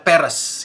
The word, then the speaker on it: Perez: Pelafalannya adalah Peres gitu.